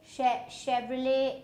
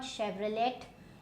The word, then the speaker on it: Chevrolet: Chevrolet is not Chevrolet, it's Chevrolet. And so you don't, this O will not be pronounced.